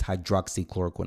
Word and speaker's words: hydroxychloroquine: on the news guys everybody's saying the name wrong the drug name is hydroxychloroquine okay so hydroxychloroquine most people